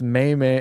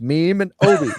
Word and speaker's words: Memeobi: If everyone's like, "That's May." I'm like, "It's meme. It's meme and obi."